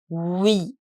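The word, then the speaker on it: oui: the most important expression we yes we the pronunciation is we we a lot of times you will see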